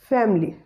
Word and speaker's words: family: next word is family the shua sound after m is silent and it is rather deleted and word will be pronounced as family family the word will be